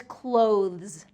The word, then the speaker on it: clothes: This one is really tricky because it has that THZ sound, clothes, clothes. So that TH has to get between the teeth, but then pulled back really quickly for the Z sound.